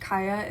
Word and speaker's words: Kya: young girl, actually, whose name I think is pronounced Kaia.